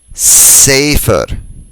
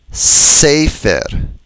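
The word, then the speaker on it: ספר: And for scroll, sefer, sefer. What do all these words have in common? Take a moment. They're all penultimately stressed. That is, they all have stress on the second to the last syllable.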